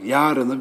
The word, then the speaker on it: yarın: çok emin değilim Ama Yarını Ben a 1 a'yı uzatarak 1 eceyi uzatarak kullandığımı sanıyorum Bir de böyle hayır var Hayır hayır Evet ne diyorsunuz bundan sonra kısa telaffuz edersiniz diye ümit ediyorum Yarın Hayır Evet yine